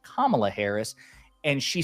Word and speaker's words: Kamala: because she has been told like hey it's pronounced Kamala Harris and she said on CNN I'll call her whatever the hell I want her to I I'll say Kamala Kamala right so rich coming from someone who's like